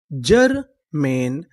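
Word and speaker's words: germane: अगर आपको इंग्लिश की किसी भी मीनिंग के आखिरी में इ लिखा मिले तो हम लोग इ का उच्चारण नहीं करते।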